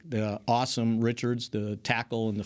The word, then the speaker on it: Asim: multiple places, like the Awesome Richards, the tackle in the 5th round. What's his name? Awesome. It's not a C. ASIM, but it's pronounced awesome.